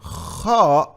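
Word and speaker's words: خ: So guys, kha comes exactly from the top of your throat.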